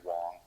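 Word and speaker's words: Huang: politics yeah i'm sorry it's pronounced andrew wong oh okay you don't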